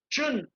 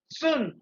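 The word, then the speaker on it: 寸: Okay, अभी हम बात करते हैं चुन, अथवा तो चाइनीज प्रोनाउंसिएशन इज सुन.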